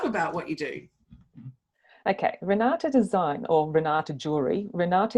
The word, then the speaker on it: Renate: In Latvian, we would say Renate, so you roll your R, but in Australia, I say Renate. So I say it with an E ending, not an A.